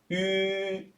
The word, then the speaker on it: ü: So this letter, yu, the pronunciation is just yu in Chinese. So if you can speak French, that's easy, right? The same as French, yu, yu.